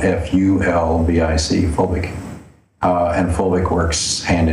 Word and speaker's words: fulvic: That's spelled F-U-L-V-I-C, fulvic.